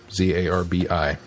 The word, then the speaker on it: Zarbi: It is Zarbi. Oh, okay. Zarbi. Okay. The Zarbi with the necklace. Okay. Tell her you stand corrected. Yeah, Glenn. I stand corrected, Glenn. I thought they pronounced it differently.